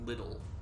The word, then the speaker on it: Liddell: yeah um yeah that's and also because how they pronounce it in the game i would pronounce it l like you are it's yeah it's slidell well so like that's how that's how i would pronounce it that's how anyone would pronounce it reading that but uh everybody in this game is saying little oh oh oh oh